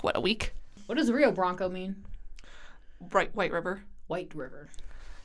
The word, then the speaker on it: Rio Branco: It would technically be Rio. With an H. Rio Branco. The pronunciation makes no sense to me in Portuguese. Oh, it doesn't make any sense to me either. Trust me. Does not make sense. Took a long time. The R's are the worst of it. Is it? How do you pronounce the R? So if the R is at the beginning of the word, it's an H.